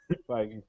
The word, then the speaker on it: Feige: So there's another story I included, which is Marvel Kevin Feige, or how you pronounce his name? Feige.